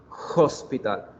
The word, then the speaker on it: hospital: En español la palabra hospital no suena la H, digo hospital, suena la O, ¿cierto? Pero en inglés we pronounce hospital, hospital.